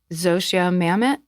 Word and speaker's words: Zosia Mamet: And so Zosia Mamet Yeah. How did I pronounce it correctly?